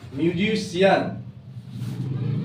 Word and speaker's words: musician: Example लिखते हैं FACIAL, इसको पढ़ते हैं फेशियल। उसी तरह एक और एग्जांपल है MUSICIAN, म्यूजिशियन। आया? तो इस तरह से सी के बाद अगर आई ए है तो आपका उसका प्रोनाउंसिएशन तालवी स होता है।